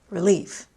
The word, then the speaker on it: relief: also heard two exceptions again is an adverb relief is a noun but I stress both on the second syllable I'll say that again again now don't breathe a sigh of relief yet relief let's progress to almost